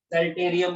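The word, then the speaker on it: psalterium: Third number पर हमारे पास omasum, omasum को ही हम लोग सेल्टेरियम भी बोलते हैं, जिसके अंदर पी साइलेंट होता है।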